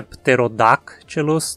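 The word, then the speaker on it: Pterodactylus: na sílaba antes dela daqui a pronúncia pterodáctilos Está certa a mesma regra é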